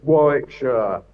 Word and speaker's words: Warwickshire: Yeah, it's Warwickshire.